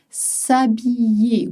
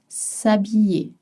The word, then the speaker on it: s'habiller: S'habiller with a Y sound. You see it's spelled with an apostrophe and H. You don't pronounce it. S'habiller.